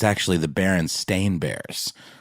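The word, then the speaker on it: Berenstain: favorite example of this there's another one with the Berenstein Bears versus the baron stain Bears so many people believe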